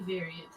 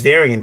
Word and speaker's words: Varian: People still call you Variant. Yeah, they do. They do. My name is Varian, people. Varian, like Bavarian with no buh.